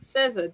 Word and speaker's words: SZA: I said it wrong. Yeah, there we go. SZA.